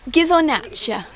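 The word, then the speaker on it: Ghisonaccia: Pascal, comment est-ce qu'on prononce Gizonaccia? Gizonaccia.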